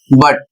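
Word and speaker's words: but: कुछ लोग जिनको सही उच्चारण नहीं पता होता है, जिनको शब्द के विषय में जानकारी नहीं होती है, वह क्या पढ़ते हैं? बट को पढ़ते हैं बुट। जबकि बुट सही नहीं है।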